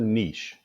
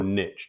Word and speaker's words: niche: Number one, focus on your niche or niche, depending on how you say it. I've heard it pronounced both ways, right?